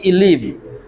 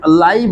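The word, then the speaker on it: live: এল আই ভিই লিভ। আবার এল আই ভি ই এটা কখনো কখনো উচ্চারণ লাইভ হতে পারে।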